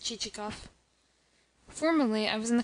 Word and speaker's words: Chichikov: Excellent, but not what I want, pronounced Chichikoff.